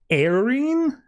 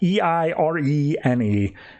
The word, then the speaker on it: Eirene: She shows up and Diana recognizes her as Eirene. I'm going to say it like that. Eirene.